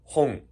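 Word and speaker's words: 本: نيهون مو مثل اليابان، نطق نفسه مو مثل نطق نفسه. نيهون. و شنو طبهم كلمات يابانية. هذا كتاب شنو كتاب باللغة اليابانية؟ هون.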